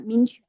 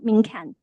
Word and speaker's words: minquan: So Liang Qichao sometimes used the term minquan, that's the two Chinese characters pronunciation in China, minquan, not minkan.